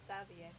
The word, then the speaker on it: Xavier: himself, he pronounced it Xavier. Yeah, he pronounced it Xavier himself, and we were like, oh, okay. So that's how he pronounces his name.